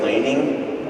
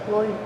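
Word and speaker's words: Loening: Am I saying it correctly if I say laning? L-O-E-N-I-N-G, is that correct? Yes. Loining. Loaning? Loining. Loining. Yeah, like a Brooklyn loining.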